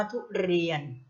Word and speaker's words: ทุเรียน: รอ อ้วน ออ เรียน นะ คะ อ่าน ว่า ทุเรียน นะ คะ คือ ใส่ ระอุ กับ สละ ออก